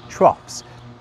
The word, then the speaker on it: troughs: And that FS sound also appears elsewhere, even if it's spelt differently. Think of the word troughs.